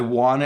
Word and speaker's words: wanna: I wanna is want to.